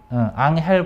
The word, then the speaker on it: 앙헬: 그냥 이거는 앙헬 폭포 맞아요. 앙헬 폭포는 세계에서 가장 높은 폭포이다. 앙헬 폭포예요. 미안해, 엔젤이라고 읽었네.